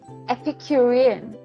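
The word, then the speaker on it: epicurean: Let's just double check if I'm saying it correctly. Epicuran. Epicuran. Okay.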